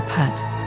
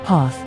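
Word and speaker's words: phat: The mantra is, A ka sa ma ra cha sha da ra sa ma ra ya pat. In Tibetan, the last syllable pat is often pronounced pay.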